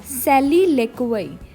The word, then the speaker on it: soliloquy: लिखने में है SOLILOQUY, पर बोलने में इसको सॉली नहीं बोलना है, बोलने में इसको सैली बोलना है। और LO ले, QUY क्वई, ठीक है, सैली लेक्वई।